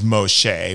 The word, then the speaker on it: Moshe: Moses for an example Moses which is Moshe which is how you actually say his name um Moshe was